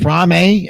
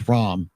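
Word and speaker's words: Fromme: President Ford, Lynette Frame, is it Frame? Everybody pronounces names different now. For like 50 years, it was Lynette Fromm. Now all of a sudden, it's Frame. Frommy, whatever. I would have stuck with Fromm, but whatever.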